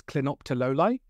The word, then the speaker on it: clinoptilolite: And a lot of people find it hard to pronounce, so it's clinoptilolite.